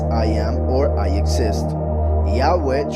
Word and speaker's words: Yahweh: Yahweh translated as he exists. He is he is the one who causes to exist. Yahweh. So a would be in the first person when Yahweh himself is saying it. But when he tells Moshe go and tell them about me in the third person that would be Yahweh Yahweh.